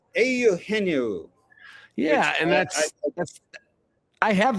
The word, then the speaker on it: Eugenio: I think Pat Hughes pronounces it auhenu.